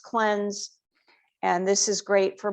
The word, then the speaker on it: CLNZ: next favorite product is called cleanse clnz pronounced cleanse and this is great